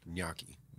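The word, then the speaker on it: gnocchi: little like potato yakis naki's oh yeah yuck like yacht yeah with an n in front of it but it's a g like gnarly say it again gnyaki yaki wow that's impressive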